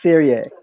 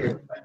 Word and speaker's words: series: You just said serie. That's a Spanish word. Series.